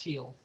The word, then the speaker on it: Thiel: I mean, it's spelled T as in Thomas, Hiel, even though it's pronounced Thiel.